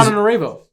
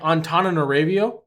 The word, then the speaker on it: Antananarivo: But this is Antananarivo. Say that? It's like Antananarivo or Ravo. I don't think the V make a V sound. Antananarivo.